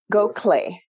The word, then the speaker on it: Gokhale: Gokhale is how it's pronounced, but it's not phonetic, right?